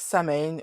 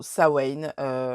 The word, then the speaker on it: Samhain: ce win vous pouvez alors au niveau de la prononciation je dis ce win parce que je le prononce à la galoise il s'agit d'un mot celtique qui nous vient normalement de la région du Pays de Galles mais vous pouvez vous dire sa main ou sawen franchement vous faites comme vous